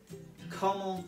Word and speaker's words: comment: Comment ça va? Now, although the first word looks like the word comment, it is pronounced comment.